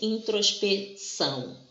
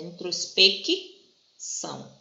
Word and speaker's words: introspecção: Porque nós não falamos assim, introspecção, tá vendo? Não é o encontro de letras, embora elas sejam parecidas, o som aqui é diferente. É introspecção, tá?